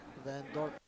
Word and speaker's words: Van Dorp: Van Dorp.